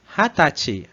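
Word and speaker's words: 二十歳: Então eles falavam Hatachi, Hatachi.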